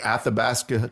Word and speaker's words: Athabasca: That's from a poem he wrote called The Athabasca Trail. You pronounced that very well.